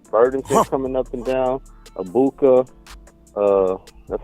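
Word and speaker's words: Egbuka: Dependable on like Burdon coming up and down abuka uh that's how you say his name Ohio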